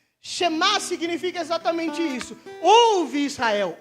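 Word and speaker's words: שמע: Só que quando Jesus responde isso, Jesus está evocando uma tradição chamada chamá, que seria mais ou menos, Shema, na verdade, a pronúncia correta, que eu não falo hebraico, vocês perceberam, né?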